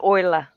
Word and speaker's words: Euler: Okay, it is pronounced Euler. Rhymes with boiler and coiler.